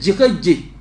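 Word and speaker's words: Jiheje: Le Saint-Nom du psaume 4, en français courant on dit Jirej. Mais la bonne prononciation c'est Jirej. J-I-H-E-J-E.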